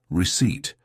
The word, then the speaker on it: receipt: "Receipt," she'd say, holding up a crumpled piece of paper. "Certi," Lucio guessed. No, the P is silent," Anna giggled.